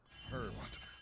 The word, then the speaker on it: herb: Herb. No, you don't pronounce the H. Okay. Herb.